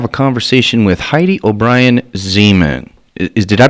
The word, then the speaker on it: Zeman: Zeman correct I FEMEN rhymes with lemon zemin ok so as she